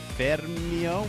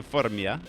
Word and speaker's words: Formia: trip to Gaeta and Fermio. How do you pronounce that other name, Marco? Fornia. Fornia and Gaeta, which are these... With yam. Formia. Yes. Yes, so we took a train to Formia and then Gaeta, and